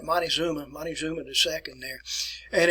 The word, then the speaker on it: Montezuma: a person by the name of montexuma won't take zuma or we call it montezuma montezuma the second there